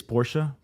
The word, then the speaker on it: Porsche: porsche guy i mean i know that the right way to say it is porsha but i am also american so i tend to just say porsche and i also like